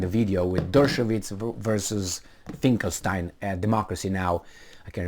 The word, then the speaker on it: Finkelstein: I remember Norman Finkelstein, or Finkelstein, however you want to pronounce it, it's Finkelstein, Dr.